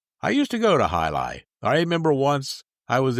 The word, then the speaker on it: Jai Alai: And it wasn't Alai, it was Halai, and it was something else.